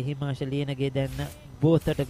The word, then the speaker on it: Gotage: Well, I got the name wrong, isn't it? Gotage. Okay. Even I got it wrong. It's Gotage.